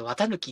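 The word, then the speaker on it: 四月一日: 月 1 日って書いて綿貫って読むって知らない。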